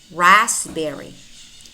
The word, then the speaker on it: raspberry: Here we don't pronounce the letter P nor the letter L. Psalm. Cupboard, cupboard. Raspberry, raspberry.